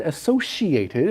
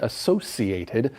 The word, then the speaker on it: associated: that exactly you said associated and i just said associated and i've heard this word pronounced in different ways both of those ways where the c kind of has an sh sound associated or associate okay so